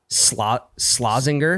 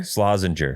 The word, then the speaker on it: Slazenger: Is it Slazinger? Slazenger. It's a Slazenger? hard G.